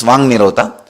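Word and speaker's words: वाङ्निरोध: Vak Nirodha only, when you pronounce it becomes Vang Nirodha.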